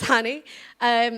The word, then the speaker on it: Hany: I'm introducing our next speaker, who is Hany, and he wants no bullshit pronunciations of his name. It's Hany.